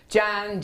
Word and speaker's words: Jan: Jan, Jan, it rhymes with ham.